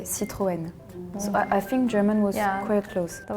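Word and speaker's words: Citroën: of like O Okay in Germany you would say citen this is another one I've never seen but I would guess it's Citroen uh in Sweden we would say citan in Spain we say croan in Italian we say croan so it's a French brand we will say Citroen so I think German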